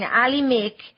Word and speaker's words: Alhimik: He's using the name, yes, he's saying Alhimik, which rhymes with Mujik, and that's about a pretty good description.